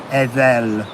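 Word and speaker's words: Eðel: So this is Adala, but in Anglo-Saxon it's spelt with an E. Edel.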